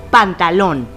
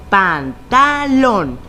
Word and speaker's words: pantalón: Donde se escuche más fuerte es la sílaba tónica y es ahí donde pondremos la tilde o acento ortográfico. En esta palabra, la sílaba tónica se encuentra en lón y recordando las reglas sabemos que es aguda porque está en la última sílaba y termina en N.